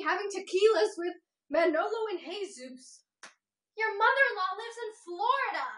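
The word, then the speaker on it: Jesús: It's Manolo and Jesus. Manolo and Jesus? Manolo and Jesus? Yeah, you don't pronounce the J.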